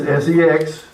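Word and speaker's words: sechs: Some people also write it as S-E-X. That's the way it's pronounced. It's six. Sex.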